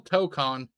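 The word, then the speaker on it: Tōkon: Does Marvel Token, is it pronounced Token, have a pause menu during the episode mode? Yes, Marvel Tokon. Sorry, Tokon.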